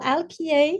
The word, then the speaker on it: Alquier: see you again yes my name is alkie so it's a pretty difficult to pronounce because I'm French so it sounds a